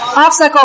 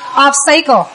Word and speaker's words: obstacle: Mình đọc là obstacle mà bác đọc là obstacle.